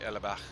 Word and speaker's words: Ellerbach: Oh, if you're going to say it properly, Ellerbach. It's a German map.